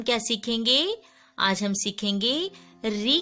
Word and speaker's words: ऋ: वर्ण के नीचे लगाते हैं और इसका उच्चारण जो होता है री। कभी कभी हम इसको रू भी पढ़ते हैं, कभी हम इसको री भी बोलते हैं। जब इसकी मात्रा के रूप में हम इसको पढ़ेंगे तो री ही इसका उच्चारण करते हैं।